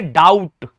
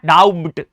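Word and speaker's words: doubt: तो बी यहां पर साइलेंट है। क्यों? क्योंकि ये टी से पहले आ रहा है। टी से पहले ठीक है जी। टी से पहले अगर बी आ जाए तो बी साइलेंट रहता है।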